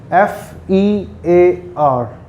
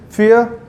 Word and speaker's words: fear: Okay, so first word is fear, F-E-A-R.